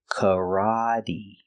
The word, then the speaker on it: karate: first sound is uh C like up and cut c c we have the r ra K this is the open a sound the short a like stop and hot K the t is pronounced with a d so we say Kate making the long e sound like green beans karate karate karate I took